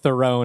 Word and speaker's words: Theron: I guess if you pronounce it Theron, it doesn't work. Oh, okay. Got it. Yeah, I'm probably pronouncing it wrong. I think it's Theron.